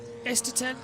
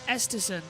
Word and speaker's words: Esterson: as uh we see esterton uh going through it's esterson as well by the way that's how you pronounce his name esterson again as well